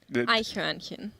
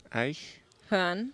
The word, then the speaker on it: Eichhörnchen: Eichhörnchen. Eichhörnchen.